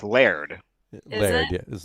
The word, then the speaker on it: laird: And actually, in Scotland, it's not technically Lord; it's Laird.